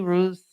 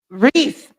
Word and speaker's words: Reece: and white we have emily roose did i say that right reece i asked her before